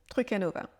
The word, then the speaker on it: truc à Nova: ce groupe de mots pour ce trucanova trucanova il est prononcé comme si c'était un seul mot trucanova et il va vous